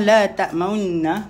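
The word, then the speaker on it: لَا تَأْمَنَّا: Tapi kat sini kita belajar benda baru, iaitu la ta'maunna. Munculkan sikit sahaja. Okay, nanti kejap lagi saya tunjuk. Cara bacaan dia. Boleh? Dia Ishmam dengan Ar-Rum lebih kurang sama sahaja. Okay, boleh tuan-tuan dan puan?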